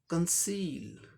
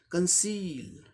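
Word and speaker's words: conceal: और यल के लिए लॉ साउंड, तो इसका उच्चारण क्या हो जाएगा? कंसील, कंसील, कंसील, ई लॉन्ग थोड़ा करना है, कंसील, कंसील माने हाइड करना, छुपाना।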